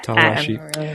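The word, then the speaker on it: Tala Ashe: names sometimes tawa Ash how would you pronounce that Tayla tala tala ashy okay sorry that's uh tala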